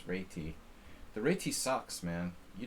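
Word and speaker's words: Réti: The proper pronunciation is reti.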